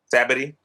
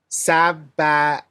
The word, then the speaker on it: Sabaody: Sabbaty. That's not how they say it. Sabaody.